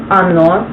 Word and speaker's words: Оно: So, first of all, it is Ono, and if you see, the first is the Russian lettering, the second is how you say it in English, and the third is the meaning.